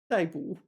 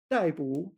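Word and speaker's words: 逮捕: So, how do we pronounce this? 逮捕, fourth tone here. And 逮住, third tone. 逮捕, fourth tone.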